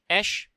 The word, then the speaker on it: Aesc: Esh is Old English for ash tree. That's why you pronounce it basically ash, but with a little bit of extra eh in the vowel, A-E.